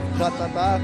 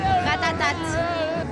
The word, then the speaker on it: Ratatat: Ratatá, não? Ratatat. Um Pokémon, Ratatá! Não sei esse nome. Não, for real. Ratatat. So, people, they have to say the last T.